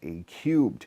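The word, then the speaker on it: A³: Valley unit a three that's actually pronounced a cubed unlike the slow and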